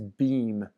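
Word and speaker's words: Bhima: is his name is beam b-h-i-m-a they usually don't pronounce the a spelled like bema but they just say beam this is a a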